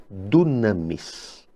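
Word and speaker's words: δύναμις: lemos literalmente em grego, lemos no grego koiné, dunamis. Mas talvez no grego moderno a pronúncia seja diferente, talvez dinamis ou alguma coisa assim.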